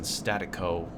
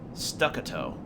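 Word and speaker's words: staccato: of the darkness in statico rhythm with stacito statito what is that word hold on how do you pronounce that stuck a toe okay and stuck it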